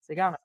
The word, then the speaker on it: Siguanaba: the pronunciation for me. Siguanaba. Siguanaba.